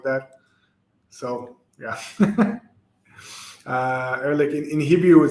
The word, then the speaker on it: Ehrlich: So there's a guy there, Ehrlich Bachman. So it's not from that, but the name itself is German in origin. I think it means like honest man or something like that. So yeah. Ehrlich in Hebrew would say Ehrlich.